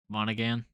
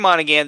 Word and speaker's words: Monaghan: uh how do you say his last name monaghan on again cameron monaghan the actor for the video game character he